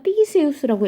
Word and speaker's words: Theseus: 테세우스라고 우리말로는 표기하고요, 영어로는 TH 발음이니까 티세우스라고 읽어요.